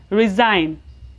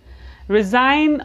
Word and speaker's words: resign: Please focus on pronunciation. We will pronounce SI here as Z. Resign. Resign or resignation means to officially leave your job or your position, etc.